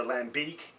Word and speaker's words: lambic: So I figured, okay, well, I got home, did a little bit of research, and found out that Lambic, or Lambic, as it's pronounced in Belgium, is actually a specific type of sour beer.